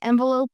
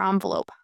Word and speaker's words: envelope: You can say envelope or envelope, by the way. Both pronunciations are common in American English.